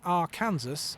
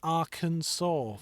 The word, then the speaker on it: Arkansas: And and what's weird is like it's basically the name of another place in America with a few letters attached but pronounced completely differently to h Oh yeah.